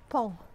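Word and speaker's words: paon: pronounce in french because it's spelled p-a-o-n but it's pronounced pong which is the same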